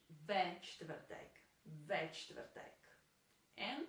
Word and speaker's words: čtvrtek: The same is true for čtvrtek as well, because it's also very difficult to pronounce. There's this consonant cluster at the beginning of the word.